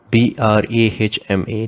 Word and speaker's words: Brahma: Esha Brahma, Esha Brahma. Note, although the spelling is written as B-R-A-H-M-A, the pronunciation is Brahma.